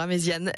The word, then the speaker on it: Amezian: amésian et alors amésian pardon j'ai prononcé amésiion tout à l'heure amésian vous avez qu'est-ce que